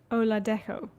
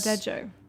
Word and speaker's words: Oladejo: Oyin Oladejo. Yes. Oladejo. Is that right? Oladejo, I think, is how they pronounce it on the show.